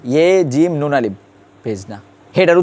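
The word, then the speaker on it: بھیجنا: কিন্তু আমরা এটা যদি ইয়া ফেসানো, আমরা এটা কি করবো, আমরা আলাদা করে বে হে বলবো না, আমরা বলবো বে ইয়ে জিম নুন আলিফ, ভেজনা।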